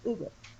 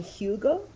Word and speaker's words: Hugo: Because the way I would pronounce it is Ugo. So I don't know, Mike. How would you pronounce the name of the captain of the guard? Oh, remind me. It's. I would pronounce it Ugo. I don't know if you would call him Hugo. Oh, yeah. Pronounce it as you would.